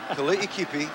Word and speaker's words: Kali'ikipi: Kali'ikipi, West Kali'ikipi, and that's the right way to say his name, is one heck of a short yardage runner.